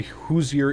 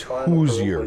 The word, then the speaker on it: Hoosier: Just FY, Hoosier is pronounced differently. Think of luge down a hill.